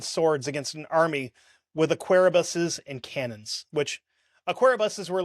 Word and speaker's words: arquebus: I'm sorry, it's arquebus is how I should have pronounced that, but I'm [